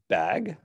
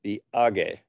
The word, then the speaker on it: BAG: 28th eighth year bag which you could pronounce bag or you could go be age if you prefer to pronounce nanaki in that way this will be another